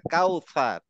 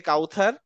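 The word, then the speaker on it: كوثر: কাউসার কাউসার হ্যাঁ কাউসার আমরা সারাজীবন বলে আসছি সূরা আল কাউসার কাউসার না কাউসার হ্যাঁ কাউসার এই কাউসার সূরার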